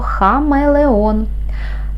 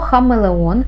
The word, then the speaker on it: хамелеон: склад наступне слово Хамелеон слово Хамелеон складається із чотирьох складів перший звук х - приголосний твердий другий звук а голосний м приголосний твердий е голосний л - приголосний твердий е голосний о голосний н приголосний твердий наголос в слові Хамелеон падає на останній склад щоб перевірити Можна запитати